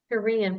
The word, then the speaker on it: Terēan: And thank Terēan. Is that how you say it? Terēan? Yep, that's it. Yep. Terēan, perfect. For sponsoring the webinar today, Spencer Fain and GeoExplore.